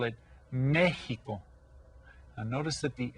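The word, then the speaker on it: México: live there call it Mexico and notice that the accent is on the first e and that tells us to that we stress that syllable and the X sounds kind of like an H so you pronounce it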